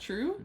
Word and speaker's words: TRV: and she is drinking the cursed TRV pronounced true yes it's the one